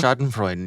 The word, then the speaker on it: Schadenfreude: How do you pronounce the word? Schadenfreude? Schadenfreude, yeah.